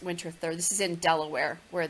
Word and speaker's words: Winterthur: that it says Winterthur it looks like winter Arthur but it's pronounced Winterthur this is in Delaware